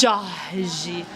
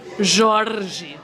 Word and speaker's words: Jorge: But you can still see the way they pronounce the S, the way they pronounce the X, the way they pronounce the R. It's Jorge. It's like there's this lightness Okay. to the end of the syllables.